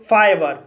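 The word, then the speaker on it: fibre: आया है और यहाँ पर आर ई का उच्चारण रा होगा इसलिए इसे लीटर पढ़ा जाता है। इसी तरह से फाइबर, फाइबर शब्द के अंत में आर ई आया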